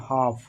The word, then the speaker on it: half: एल को क्या करो, इस एल को साइलेंट कर दो, मतलब चुप कर दो इसको, बिल्कुल चुप, इसको नहीं पढ़ना है, सिर्फ एल को बिल्कुल नहीं पढ़ना, सिर्फ HAF को पढ़ना है। तो इसको पढ़ेंगे हाफ, हाफ।